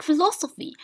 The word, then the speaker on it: philosophy: Okay, next one we have phi, like philosophy. Philosophy. Okay, so we count from 1, 2, 3. Okay, so the third syllable is stressed.